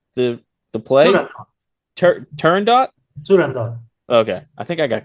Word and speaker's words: Turandot: Maxim, can you pronounce the play? Turandot? Turandot.